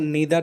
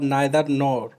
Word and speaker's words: neither: प्रकार किया जाता है नेथर नो का उच्चारण निडर नो और नेत्र इन दोनों प्रकार से होता है यह दोनों ही उच्चारण सही है जिनको हम एक-एक करके